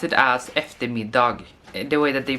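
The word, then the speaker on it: dag: as if the me dog the way that they pronounce ectomy dog we say we don't pronounce the G sometimes we just skip the last consonant just so this is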